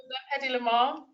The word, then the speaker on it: Hedy Lamarr: Did I pronounce Awesome. that right? Yeah, Yes. yeah, that's Hedy Lamarr.